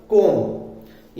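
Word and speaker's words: comb: ए जाएगा तो हम क्या करेंगे बी को साइलेंट कर देंगे फॉर एग्जांपल कॉम ये जो कंधा होता है वो जिससे बाल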